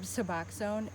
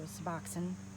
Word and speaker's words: Suboxone: and they prescribe Suboxone, and they know nothing about it.